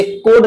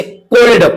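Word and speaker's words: cold: इसे कोड ना पढ़कर इसे कोल्ड पढ़ेंगे।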